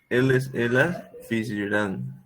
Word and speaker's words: fizeram: Elas fizeram. Aí seria fizeram. A sílaba tônica no Zé.